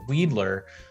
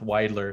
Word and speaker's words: Weidler: you have weidler and weidler street commonly gets mispronounced as weedler so yes weed is legal in oregon but no this street is not named weedler it is in fact wider so you know just for your reference if